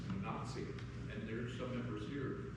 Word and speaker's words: Wenatchee: And it's like I learned from my elder that there's not even pronounced right, it's Wenatchee.